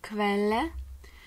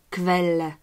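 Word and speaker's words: Quelle: Далі у нас літера Q, як у слові квеле. Зверніть, будь ласка, увагу, що ця літера, скільки я можу зараз згадати, завжди використовується у поєднанні з літерою У. І разом вони створюють звук кв.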